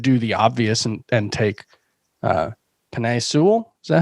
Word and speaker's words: Penei Sewell: Cincinnati's offensive line is likely to be better, especially if, I think they should do the obvious and take Penei Sewell. Is that how you pronounce his name?